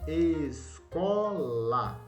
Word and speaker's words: escola: Escola. Ó, a sílaba forte é no C com O. Escola. Você não fala escolar, é escola.